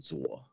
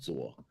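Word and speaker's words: 左: is General too but in Mandarin it' be called General zor General but his last name in Mandarin is zor but don't like I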